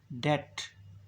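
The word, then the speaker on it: debt: है लेकिन हम उसे पढ़कर नहीं है बे साइलेंट है डेट डेट मीका यदि की आउटलाइन होगी और टिकिया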